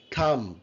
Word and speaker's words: thumb: Thumb, tha, it's a thumb. B is silent.